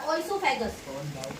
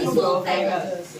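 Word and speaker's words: oesophagus: उधर ओइसोफेगस बोलते हैं, ओइसोफेगस है, लेकिन इसको क्या बोलते हैं, वो लिखते हैं ओइसोफेगस है, और उसको प्रोनाउंस क्या करते हैं, पढ़ते क्या है, ईसोफेगस।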